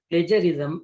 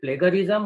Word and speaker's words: plagiarism: Is it plagiarism or it is plagiarism? So by going through the Google, it indicates that instead of G, we use the word J.